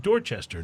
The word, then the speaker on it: Dorchester: except it starts with a d but they pronounce it dorchester not duster like so you never know uh